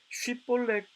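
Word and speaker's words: 쉽볼렛: 발음을 해보도록 한 것입니다 그런데 에브라임 사람들은 쉬 발음을 하지 못했습니다 영어로 표현해 보면 스펠링으로 shi 발음을 해야 하는데 그들은 shi 발음을 하지 못하고 쉬 발음을 시로 발음하게 됩니다 영어로 표현하면 si로 발음을 하게 된 것이죠 그래서 쉬폴랙이 아니라 10볼링이라고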